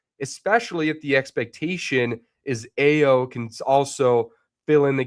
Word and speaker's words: Ayo: if the expectation is AO can also fill in the gaps defensively that uh Mike Connley and Rob Dillingham couldn't. D Chris 1367, congrats on getting AO Bulls fan. Also, it's pronounced IO.